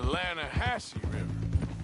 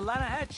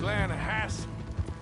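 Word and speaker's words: Lannahechee: some beautiful steelhead trout you mean the Lana hash no no no the Lana hatch it runs right near here yeah for this pronounced Lana Hass why is everything in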